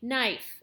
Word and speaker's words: knife: you spell knife k-n-i-f-e the k is there who knows why but it is there well uh and but you don't pronounce it but it's part of